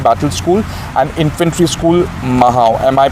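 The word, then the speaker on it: Mhow: institutions like Siachen Battle School and Infantry School Mahao. Am I pronouncing it? Yeah, it's Mao.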